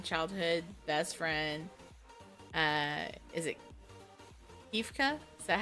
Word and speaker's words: Kefka: Is it Kefka? Is that how you say his name? No, Kefka.